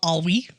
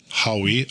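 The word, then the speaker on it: Haüy: That's Howie. Howie. Oh. Howie. That's that's how you spell it. Okay. It's spelled H-A-U-Y. H-A-U with umlauts. Yeah.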